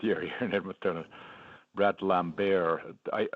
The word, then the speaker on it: Lambert: Brad Lambert. It's funny, we were not sure how to say the name, and the Finnish team said that it's pronounced in the French way, Lambert.